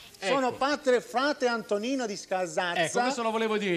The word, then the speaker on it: Scasazza: Con la Z si pronuncia, Scasazza. Scasazza. Con la Z.